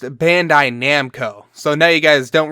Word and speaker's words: Bandai Namco: just slaughtered it again it's properly pronounced Bandai Namco so now you guys